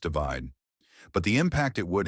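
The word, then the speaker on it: ÷: Divide, pronounced divide.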